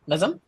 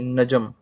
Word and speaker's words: नजम: सर मेरा question ये है, ड्यूरिंग दिस मैं बैच क्या एक सेकंड पहले बस ये बताइएगा, मैंने आपका नाम ठीक से प्रोनाउंस किया क्या? नजम? नहीं, नजम। नजम, ऑल राइट।